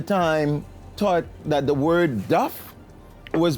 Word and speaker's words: duff: cook at the time taught that the word Duff was pronounced the same way that you pronounce uh